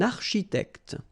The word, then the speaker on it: architecte: Then, un architecte, same thing here, liaison, okay? Un architecte, all right? And then CH, architecte, all right?